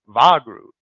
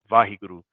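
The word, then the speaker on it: Waheguru: Like, you're just mispronouncing it, right? It's Vahiguru." And I was like, Vahig. Vahiguru.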